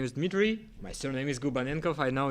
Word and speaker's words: Gubanenkov: yeah my name is Dmitry my surname is GU benign cough I know it's hard to pronounce so I've been in gaming industry for